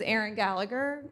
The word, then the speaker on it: Aaron Gallagher: Aaron Gallagher um my name rhymes with Sharon Gallagher but we are not related I've never met Sharon before I I swear my name is Aaron Gallagher I am the interim